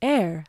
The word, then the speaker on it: Aire: name has been revealed it is air pronounced air like billionaires hmm well I think